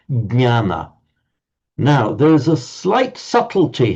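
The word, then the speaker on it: ज्ञान: In Sanskrit, you've got to pronounce the d sound to start with, jnana.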